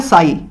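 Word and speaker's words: psi: साई, जिसमें P silent होता है। अब ये अंग्रेजों की बातें हैं, मुझे भी समझ नहीं आती है कि क्यों पी साइलेंट होता है, क्या मतलब है, पता नहीं, हमें को क्या लेना देना, आप इतना समझो, इसको साई बोलते हैं बस, ठीक है, पसाई नहीं बोलते हैं, ठीक है।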